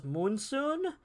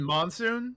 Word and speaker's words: Monsoon: The only really boss I kind of hated was Moonsoon. And that's because it forces you to use the worst mechanic of the game, being the grenades. You mean Monsoon? That sounds like it'd be pronounced Monsoon.